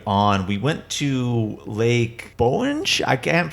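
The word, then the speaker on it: Bohinj: the tour continued on we went to Lake Bowen SHhhh I can't pronounce I'm gonna spell it for everybody it's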